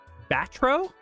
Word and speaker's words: Batro: know, and that is Batro. Is that how you pronounce that name? Yep.